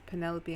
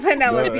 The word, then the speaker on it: Penelope: It's like, oh, I'm gonna start pronouncing Penelope like envelope. Penelope. Penelope. Penelope. Penelope. Antelope. No. Yeah, envelope like Penelope. That's awful. No, we're not doing that. Oh, that sounds wrong. Okay, so Calliope and Lysandra